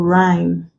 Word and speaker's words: rhyme: Now, consonant sound H is not pronounced if it comes after R, G, or W sometimes. Mostly at the beginning of words, for example, rhyme. What we have here is